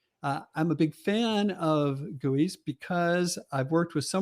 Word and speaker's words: GUI: r graphical user interfaces are abbreviated gui and pronounced gui i'm a big fan of gooeys because i've worked with